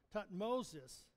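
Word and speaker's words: Thutmosis: has a son named tmos III imagine that tutmosis is actually the way it's pronounced tutmosis II and when they have this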